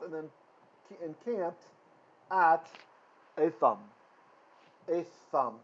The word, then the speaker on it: Etham: Etham, th. Again, it's okay to say Etham. The way I've taught you the Sephardic pronunciation, because that's what Kalal Yisrael uses today.